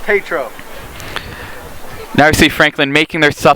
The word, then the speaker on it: Tetro: Now number 12 from Franklin Township, just boxing out Matt Tetro. Pronounced Tatro.